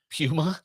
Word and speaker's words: Puma: Puma. They are. That's how it's pronounced in the UK.